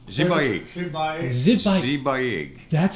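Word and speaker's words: Sipayik: Zibayig. Zibayig. Zibayig. That's how you say it. Spelled S-I-P-A-Y-I-K, but the S is a Z syllable and the K is a G syllable, so it's a Zibayig.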